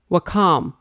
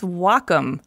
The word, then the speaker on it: Wacom: no wait Wacom No wellcome no its Wacom pronounced wah like the Japanese word for harmony and come for computer the Wacom Cintiq 16